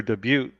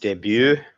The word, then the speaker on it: debut: It's debut, debut. it's How much just money you want? debut. You don't pronounce the T, do you?